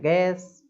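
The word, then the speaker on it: guess: Next है गैस, गैस अनुमान लगाना। अब इसमें भी देखिए ई, है ना, मैंने क्या बोला, वोवल, वोवल के पहले यू आ रहा है तो यू जो है वो साइलेंट हो जाएगा।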